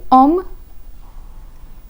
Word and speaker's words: homme: The letter H has been omitted from the pronunciation.